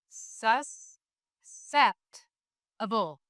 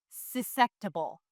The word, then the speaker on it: susceptible: We see E, which will make the C make the soft sound S.